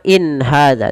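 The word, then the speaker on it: إن هذا: Izhar halqi yaitu izhar yang dibaca dengan jelas. Maka cara membacanya bagaimana? In hadza. Tidak ada penahanan in ya, tapi dia jelas saja.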